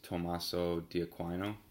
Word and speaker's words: Tommaso di Aquino: look it up, but I looked up how to say his name in Italian, which is Tommaso di Aquino.